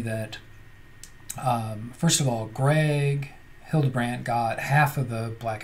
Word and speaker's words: Hildebrandt: It's the artist is Greg Hillenbrand. So pretty cool. There's a color version, and then as you can see, black and white. Hildebrandt, I think I mispronounced that the first time.